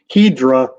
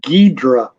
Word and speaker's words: Ghidra: g-y like or h-y-d-r-a so i thought it was pronounced hedra but i went on google today and put the name in and they say the italian pronounced it ghidra just like you us gringos do so we'll call him